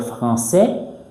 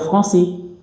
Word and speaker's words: français: va arrêter de dire français on va dire français. Français pourquoi ? AIS en position finale, AIT en position finale, AI en position finale, on les prononce comme E.